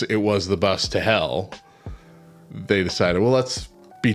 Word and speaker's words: Hel: a bus leading to a place that sounds like the word hell in English the local bus operator